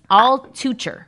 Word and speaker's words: Altucher: It's so not that last name, but it's Altucher.